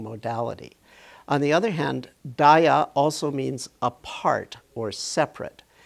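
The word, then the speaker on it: διά: So the corresponding Greek word is dia, D-I-A, which would have been pronounced dia in ancient Greek.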